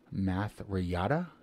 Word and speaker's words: Mathreyata: I think it's Mathreyata is the way you pronounce it.